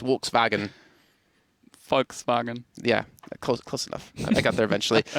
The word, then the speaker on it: Volkswagen: for some reason so if you ever hear like someone say Volkswagen in English it's Volkswagen in German it's Volkswagen Volkswagen yeah close close